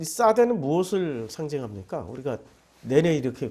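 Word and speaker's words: שָׂדֶה: 근데 이 들이란 단어가 싸대예요. 싸대. 자, 들에서도 복을 받는다. 싸대기 때린다는 싸대가 아니고 발음이 싸대라는 거예요.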